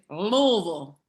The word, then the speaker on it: Louisville: And if you ever come to Cincinnati or Louisville, let me know. I'll make you a bottle. Yes. Oh, wait, let me practice saying it. It's Louisville. Louisville. Yes. You gotta get it in the throat.